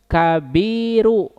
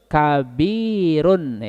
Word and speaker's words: كبيرٌ: dibaca dengan tanwin sehingga salah apabila membaca seperti ini kabiru salah kenapa tanpa Al harus tanwinnya muncul tapi harus kabirunah ini harus jelas sehingga Kalau digabungkan albaitu